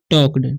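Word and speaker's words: talked: एंड टॉक्ड, यहाँ पर L silent है, इसे हम पढ़ते हैं टॉक्ड, ठीक है।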